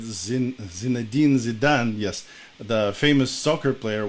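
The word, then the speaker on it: Zidane: way to appreciate uh Z zadin if I pronounce him his name right Zen zadin zidan yes the famous soccer player once said um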